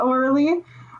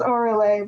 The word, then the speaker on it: Orle: Oh, yeah, Orly. No, it's Orle, but hey, whatever people want to pronounce it as, it's all good.